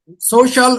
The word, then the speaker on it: social: Social or social? Social. Social. Social. The stress lies on the first syllable.